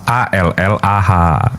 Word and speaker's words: Allah: Penulisannya tetap ALLAH, membacanya Allah.